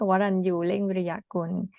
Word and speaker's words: Waranyu Viriyakun: I can show you how to pronounce Waranyu Viriyakun, which is very long for the foreigner to pronounce.